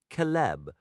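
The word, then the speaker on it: celeb: The letter C always carries the sound of K even when preceding E or I. Thus, a word like celib meaning silver is pronounced calb.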